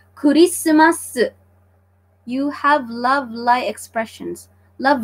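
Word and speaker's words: クリスマス: okay so I hope you got that right kurisumasu you have lovely expressions love lying expressions what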